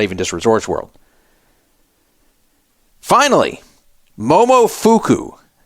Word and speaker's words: Momofuku: Finally, Momofuku. Sounds like a fake name. Momofuku. Spelled like Momo fuck you, except without the C.